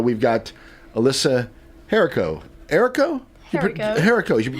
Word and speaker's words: Herico: Herico. You do pronounce the H.